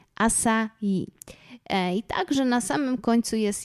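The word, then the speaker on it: açaí: rzecz która dotyczy wymowy powszechnie słyszę że niektóre osoby czytają jagody asai Akai jednak nie jest to do końca poprawnie ponieważ tutaj po portugalsku nazwa ta ma literę C jednak jest to litera C Z ogonkiem tak zwanym seką sesji Gila i czyta się to właśnie c jako literkę s stąd więc poprawna wymowa tych właśnie jagód i tak właśnie mówią na nie Brazylijczycy to są jagody asai także na samym końcu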